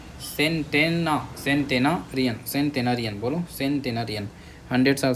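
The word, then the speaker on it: centenarian: सेंटेन टेना कर लो टेनरियन ठीक है सेंटेना सेंटेनारियन सेंटेनारियन बोलो सेंटेनारियन 100 साल से ज्यादा जी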